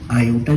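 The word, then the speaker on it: iota: आयोटा spelling हो सकता है मैंने गलत लिखी हो, बट इसको बोलते क्या, प्रोनाउंस क्या करते हैं, आयोटा, जिसको हम मैथ्स में स्मॉल आई से डिनोट करते हैं।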